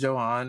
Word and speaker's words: Johan: I keep wanting to say Johan, but it's Johan according to his fiance.